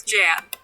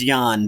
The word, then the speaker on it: Jan: policeman his name is jab technically it's pronounced yan but because it is a german name actually i think that